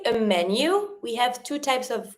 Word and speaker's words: menu: If you want to say a menu, we have two types of ways to say it. Un menu, same as in English, but careful on the pronunciation. Menu, menu, or une carte.